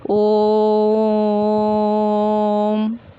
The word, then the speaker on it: ओम: तो इसी प्रकार जब हम ओम का उच्चारण करते हैं तो कैसे बोलते हैं? ओम, ऐसे ही लिखते हैं ना। तो इसको हम लोग इसी तरह से पढ़ेंगे। अगर जहाँ कहीं ये चिन्ह आपको दिख जाए तो आप समझेंगे कि इसका उच्चारण देर तक करना है।